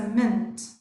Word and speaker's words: meant: Okay, pronunciation is evidently. And M-E-A-N-T is a mint.